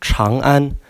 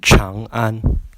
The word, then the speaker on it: Chang'an: And Chang'an is pronounced with a road with a CH and an R combined. So Chang'an instead of Chang'an.